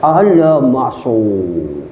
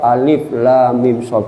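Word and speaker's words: المص: Bacanya Pak, alamasu. Waduh hebat. Jadi saya ngomong, afwan ya saya antum khoto, ente salah. Aswab alif lam mim so.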